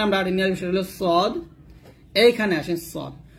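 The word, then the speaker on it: ص: সদের মাখরাজ এবং সিনের মাখরাজ সেম, জিহ্বাটা নিচে দাঁতের সাথে লাগিয়ে সদ এবং সিন উচ্চারণ করতে হয়। তবে এখানে সদের উচ্চারণ বাংলাতে লেখানো যাবে না, সদ মোটা করতে হবে। যেমন সদ ইজ ওভার স বলতে হবে, সদ ইজ এ সই সই বলতে হবে, সদ এ পেশ সো এরকম, সদ এ পেশ সো এরকম উচ্চারণ করতে হবে।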